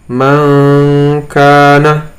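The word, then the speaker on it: مَنْ كَانَ: Hukumnya, cara membacanya lebih condong kepada eng atau ng dalam tulisan Indonesia. Ini contohnya, di sini ada lafaz nun sukun atau nun sukun bertemu dengan kaf. Cara membaca adalah mangkana.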